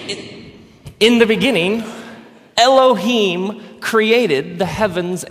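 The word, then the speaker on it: אֱלֹהִים: it would look something like this and it's pronounced anounced Elohim let me hear you say Elohim Elohim in the beginning Elohim created the heavens and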